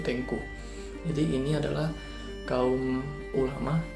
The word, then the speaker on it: Teungku: Yang kedua ada golongan Tengku, tapi tulisannya Teungku, NG. Kalau tadi kan Teuku, kalau ini Teunggu, tapi bacanya tuh Tengku.